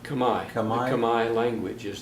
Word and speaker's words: Khmer: Khmer, which is spelled Khmer, but pronounced Khmer.